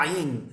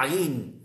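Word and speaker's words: עין: Yom Shabbat, Yom Rishon, Yom Sheni, Yom Shilish, Yom Revi'i, com a letra Ain na garganta, difícil de pronunciar os ocidentais. A letra Ain, o Ain é na garganta, o Ain, a letra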